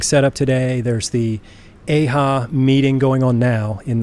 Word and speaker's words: EIHA: I was saying EIHA like yeehaw, like woohoo, yeehaw. Right. But it's EIHA.